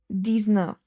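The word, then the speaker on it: dix-neuf: These nerve just like the set and the width the nerve is also 10 and 9 which is 19 which makes these nerve.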